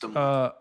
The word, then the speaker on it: Des Moines: It's just Des Moines. How do you pronounce Des Moines?